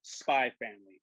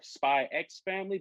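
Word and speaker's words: Spy × Family: this week is called spy family or spy x family but the x is not pronounced because you know a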